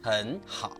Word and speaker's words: 很好: The same happens in 很好, meaning very good, which becomes 很好.